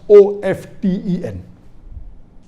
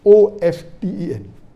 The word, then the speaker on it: often: T is not silent, it should be pronounced.